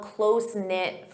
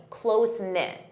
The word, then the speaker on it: close-knit: You can say I'm from a close-knit family. Close-knit. Notice that pronunciation.